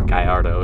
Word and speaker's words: Gallardo: he has a lamborghini gallardo or Guyardo if you want to pronounce it right yeah he takes it